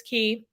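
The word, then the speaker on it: Castaway Cay: Island Castaway key and yes it's spelled like Castaway K but it's key um so destinations they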